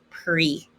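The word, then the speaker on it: pris: drink or meals it's irregular past participle is pre don't pronounce the s pre so if i want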